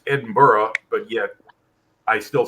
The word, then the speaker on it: Edinburgh: opposed to Birmingham yeah so what what about Edinburgh did you just say Edinburgh or is it